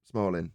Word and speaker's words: Smolin: yeah Lee small and I've heard of him Smalling is how you say it yeah well there